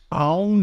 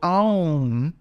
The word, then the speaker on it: Aum: ĀŪṀ is a combination of three transcendental letters, A, U, and N, the nasal M, each one of which gets one beat. And then the dot, the bindu, is a moment of silence, which only gets half a beat. So ĀŌṀ altogether gets 3.5 beats. And there's a moment of silence at the end.